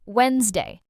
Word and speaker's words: Wednesday: A fun way to remember this, think of it as two words joined together. Wen's plus day. And just forget about that silent D completely when you speak.